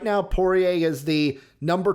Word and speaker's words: Poirier: Poirier?